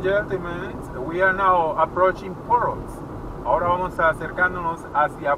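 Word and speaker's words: Porus: Poros. Bienvenidos a Poros. Ok, muy bien. Bienvenidos a Poros. Poros. Se escribe P-O-R-U-S.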